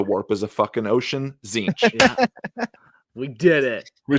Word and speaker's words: Tzeentch: the the number um the g is silent in zinch and not even seen it's in the it's in the word zinch you just never see it and it changes position